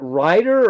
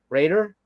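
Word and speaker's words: Rhayader: Is it Ryder or Raider? Raider. Riader. There's an A there.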